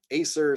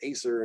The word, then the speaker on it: Acer: Acer, same thing. I think that's how most people would say it. Acer, not acer.